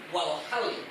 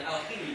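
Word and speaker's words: الحل: Wal muradu bi ulil amri jami'ul ulama min ahlil aqdi, bukan ahlil aqdi, min ahlil aqdi wal hal, bukan al-khili bacanya. Ya, wal murad bi ulil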